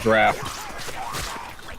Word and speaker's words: draught: There's another draught here. Pronounced draft.